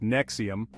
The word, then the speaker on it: NXIVM: controversial self-help group called nxivm nxivm pronounced Nexium was founded by Keith